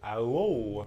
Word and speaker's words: OUOW: (Brian: Yeah) oooOOohoOO Jason: Give it to us Umu: OUOW All: *struggling to pronounce OUOW* Brian: ow-woah Jason: That was it Umu: That's it (3x)